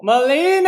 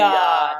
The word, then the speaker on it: Malia: Melina! Hello, Malia, Malia. not Melina. Don't Yes. say it wrong.